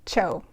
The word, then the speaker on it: TCHO: So this company is the phonetic spelling of the first syllable of chocolate, and so you pronounce it CHO.